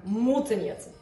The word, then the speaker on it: Муцениеце: Моя фамилия произносится так – Мутанец.